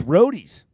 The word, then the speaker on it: Rody's: big shout out to Rody's barbecue oh it's Roadies Roadies oh so it's not